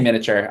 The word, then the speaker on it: miniature: Um I I guess I I say miniature. I skip the I but I I mean there's all these like little miniature miniature.